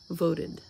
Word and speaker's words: voted: endings today we're using voted and started in both of those words the ed ending is going to make a separate syllable because after the verb